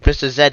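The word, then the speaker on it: Mr. Z: that mr z or react axis pronounced mr zed even in america so mr zedd is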